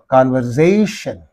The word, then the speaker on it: conversation: accent composition composition convers conversation is there so in this there is the suffix the syllable preceding the suffix is s therefore conversation conversation right and here see